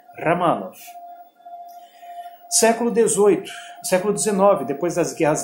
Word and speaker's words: Romanov: A pronúncia correta em russo é Romanov.